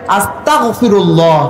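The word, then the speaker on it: أستغفر الله: আস্তাগফিরুল্লাহ, কাফ হবে না, হবে গইন আস্তাগফিরুল্লাহ।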